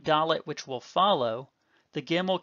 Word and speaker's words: dalet: But like gimel, we say it the same way either way in our pronunciation, duh, as in the D in dog. But if you transliterate into